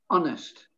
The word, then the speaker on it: honest: honest it's not honest simply honest forget the h honest then the next one